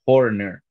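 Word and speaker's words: Hoerner: Swanson, Michael Bush, Nico Horner. Fíjate que hay que parar y pronunciar bien la R en el medio porque te complicas.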